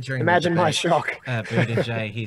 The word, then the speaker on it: Buttigieg: I'm glad you mentioned his name because I couldn't pronounce it before. It took us a while. What is it again? Buttigieg.